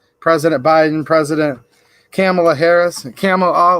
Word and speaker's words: Kamala: President Biden, President Kamala Harris, Kamala, like camel, like the dromedary. That's how I've heard it pronounced.